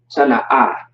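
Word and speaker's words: טנא: Tana'a. That's how you pronounce it.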